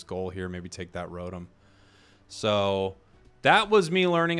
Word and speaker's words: Rotom: Let's take Rotom. I've heard people say to me, Jake, it's Rotom. Rotom. It's like Rotom. It's like Hillary Rodham Clinton.